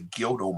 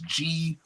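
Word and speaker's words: Gyuto: Everybody look up there's this group of Tibetan monks called the Gyodo monks. Gyoto. I believe that's how it's pronounced or it's spelled.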